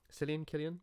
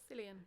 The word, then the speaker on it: Cillian: Killian? How would you pronounce? You pronounce Killian. Killian, yeah. I'd be interested to know. Cillian does sound weird. Cillian.